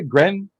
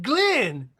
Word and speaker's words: Glenn: uh the voice says did you say gren no i said glenn glenn man all right